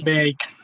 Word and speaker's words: baked: Remember the rule, all right? We have, this sound is voiceless. That means it's k. So, and this one is d, all right?